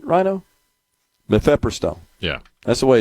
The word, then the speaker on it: mifepristone: Mifepristone. Yeah. That's the way it's spelled.